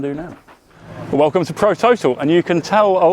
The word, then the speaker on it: ProTotal: Um, we came across ProTotal or as the the Scandinavian origin would probably pronounce Prototal.